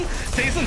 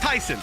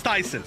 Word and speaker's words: Tyson: Sorry, that's gonna hurt a lot, but I'm just seeing Tayson saying it's pronounced Tyson, so it's not Tayson, it's Tyson. All right.